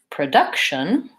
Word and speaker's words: production: clear vowel product but if I look at the word production then I have second syllable stress the first syllable is shorter and the vowel changes it's no longer product production its production so my first my first vowel becomes that schwa sound this one sounds like